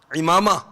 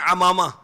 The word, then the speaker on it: عمامہ: امامہ, بعض کہتے ہیں عمامہ, عمامہ نہیں, امامہ, عین کے نیچے زیر ہے. صحیح تلفظ کیا ہے؟ امامہ.